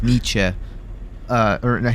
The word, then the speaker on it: Nietzsche: um that's why like when you're talking about like uh what was it neat not Niche it's net Nets how do you pronounce it again Nietzsche I think it's pretty oh very well yeah